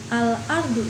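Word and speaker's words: الأرض: Al-Qamariyah yaitu huruf alif, maka dibacanya jelas al-ardu. Jelasnya alnya kebaca. Al-ardu kan kalau lam sukun kalau ditulis di bahasa Indonesianya waktu Miss Mut ajarkan itu L-nya saja kan, L-nya saja ya. Jadi lamnya kebaca, tapi lamnya lam sukun, al-ardu.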